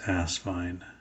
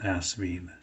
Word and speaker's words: Asvine: name is pronounced but if you want to know it is asvine not asvine uh guess it doesn't